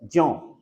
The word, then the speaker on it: ज्यों: उच्चारण में देखो क्या है? ज्यों। वैसे भी बोलते हैं इसको, वैज्ञानिक तरीके से बोलने का तरीका ज्यों ही है इसका, ज्यों।